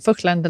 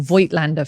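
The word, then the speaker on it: Voigtländer: the fence about which F-mount Vöchtlander lens to buy, or Voigtlander for those people that can't pronounce it properly.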